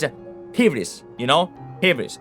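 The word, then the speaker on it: ὕβρις: pronounce it as ivris, in ancient Greek it would be like a soft H, not a h, soft H, a hybris, you know? Hybris. It's not hubris though.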